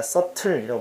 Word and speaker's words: subtle: B자 발음이 안 돼. 그러니까 subtle이라고 발음하는 게 올바른 발음이고 arise, 옆에다 자 써놔.